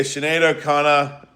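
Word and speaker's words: Sinéad O'Connor: Yeah, Shenado Connor.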